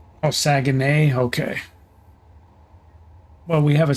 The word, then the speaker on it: Saguenay: I don't know how to pronounce that. Looks like Saginaw, but I may not be. All right. Oh, Saguenay.